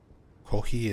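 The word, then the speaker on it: コーヒー: Kohi is how you say coffee in Japanese.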